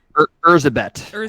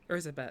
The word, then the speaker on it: Erzsébet: Erzsébet is how you say it. Erzsébet.